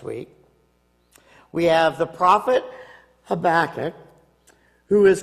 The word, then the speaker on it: Habakkuk: Now, this week, it's the prophet Habakkuk, which you did a great job, Cheryl, of pronouncing that.